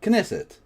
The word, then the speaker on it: Knesset: So, there is a K. Knesset.